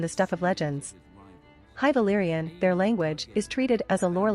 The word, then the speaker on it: Valyria: According to the TV series official pronunciation guide developed for the cast and crew, Valyria is pronounced /Valyria, as opposed to Valyria.